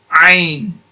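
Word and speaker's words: ع: But this is more like pushing the air out, whereas in this case here, it's ain. Like no air coming out. You're just literally pronouncing the letter using the tongue and the throat. Ain. Ain.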